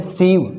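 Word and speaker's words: sieve: ठीक है, यहाँ देखो IE है तो इसका थोड़ा लंबा उच्चारण होगा और हम इसको क्या बोलेंगे, सीव।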